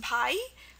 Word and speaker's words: Bhai: Also the word Bhai, it's, in Hindi it's actually pronounced Bhai, B-H-A-I, it means brother, but,